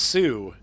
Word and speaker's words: Sault: like no it's pronounced sue he's like no it's pronounced salt and I'm like well that's why they call them the Soo Locks they don't call them the salt locks oh my okay 1:30